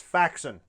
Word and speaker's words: Faxon: I no longer have to force myself to pronounce it Faxon. It's Faxon.